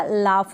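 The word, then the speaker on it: laugh: Clear हो गया, कफ हो गया, रफ हो गया, लाफ हो गया, इस तरीके से। तो हम यहाँ पर GH को क्या कर रहे हैं, प्रोनाउंस कर रहे हैं F के जैसे, F पढ़ रहे हैं इसको।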